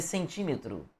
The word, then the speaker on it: centímetro: E aí vamos fazer centímetro. Cro. Centímetro é uma proparoxítona. A sílaba tônica é a antepenúltima.